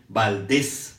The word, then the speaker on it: Valdés: vieron la semana pasada por cierto valdez se escribe con s y con acento en la rae y la el acento en la e valdés que es curioso que yo siempre lo escribía sin acento y concepto pero es valdez con acento en la e y con la s de samuel miguel alemán valdés para